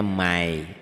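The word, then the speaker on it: مَنْ يَعْمَلْ: Ditulisnya man, dibacanya mai.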